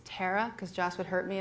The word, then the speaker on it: Tara: Well, I have to stop you down and say it's Tara, because Joss would hurt me if I didn't.